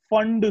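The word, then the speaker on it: Pfund: उसके बाद आता है फंड सीरीज ठीक यह पीस साइलेंट है वह लिखना है पर बोलने का नहीं सीरीज ओं थे सूप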